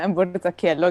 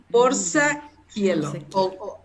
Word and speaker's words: Borzacchielo: Y, espero pronunciar bien tu apellido, Borsaquielo. Está bien, Borsaquielo, gracias. Borsaquielo.